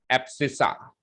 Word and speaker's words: abscissa: Spelling है ABSCISSA, एब्सिसा।